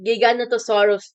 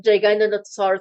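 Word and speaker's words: Giganotosaurus: It actually giganattosaurus, not giganosaurus or whatever you pronounce it.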